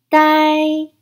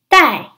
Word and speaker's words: 戴: it means to wear it's pronounced in the fourth tone let's break down this word the I die in the fourth time die die die HM ha very